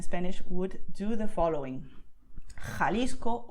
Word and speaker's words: Jalisco: So you just expel the air and that's it, okay? So you feel like the hot air coming out of your mouth. So most Spanish speakers, especially in Latin America, they would pronounce these words as you can hear now. Jalisco, Ojeda, Jipijapa, Tajo, Tajuña, Gerona, Gijón. Okay, and that's totally correct.